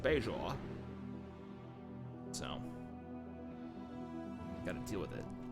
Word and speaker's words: Bajor: do space nine uh everyone said we pronounced bajor wrong but they say it both ways picard though is like beijoin so gotta deal with